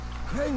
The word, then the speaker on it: Crane: my name is crane crane rhymes with train and gray and serve and grate and wave and play and the other kind